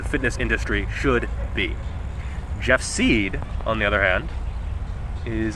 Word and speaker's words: Seid: Jeff seid side I think it's seed because it sounds like CD and rhymes with the yacht now the reason I'm